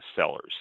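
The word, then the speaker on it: Cellars: called bordeaux sellers uh sellers c-e-l-l always sounds like i'm saying sell sellers s-e-l but it's sellers i guess they're both pronounced the same way there's no big difference they were duping investors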